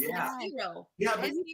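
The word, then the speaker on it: gyro: no judgment here no you you say like hero right it is it's hero hero yeah hero and and an H yes yeah it's weird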